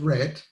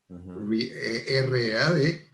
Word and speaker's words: read: Por ejemplo, I have read, yo he leído, R-E-A-D, I read, yo leo, también es R-E-A-D, pero es I y la otra es E.